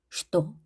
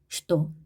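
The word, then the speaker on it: что: 슈또 슈또 슈또라고 쓰지만 우리가 이거는 예외적인 발음입니다. 슈또 슈 이고로 되어 있지만 우리는 이로 읽습니다.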